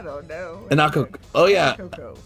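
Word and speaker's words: Anacoco: Anakoko. It's yeah, Anakoko. There's no other way to pronounce it. Of course. Anakoko? Anakoko. Anakoko. Sounds like sisters Anna and Coco.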